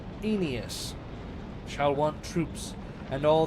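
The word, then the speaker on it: Aeneas: Daido and her anus. That's not how you pronounce that. Inas shall want troops and all the haunt be ours.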